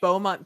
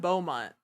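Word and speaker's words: Bomont: was in in Georgia it just sounds like Beaumont from Texas it's just not spelled like Beaumont this one's actually spelled bio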